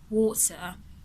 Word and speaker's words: water: Now, when you hear American speakers speak, for example, let's use the word water. So you notice the R at the end of the word is pronounced for American